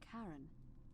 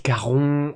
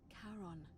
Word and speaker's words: Charon: It's just as you described it, only your pronunciation is a little off. The name you heard wasn't Karen. It was C-H. Ah, c'est Caron. Oh, c'est beau. Charon, the ferryman of the dead.